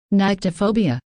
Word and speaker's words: nyctophobia: Unless you have this, which, how do you pronounce this? Nyctophobia.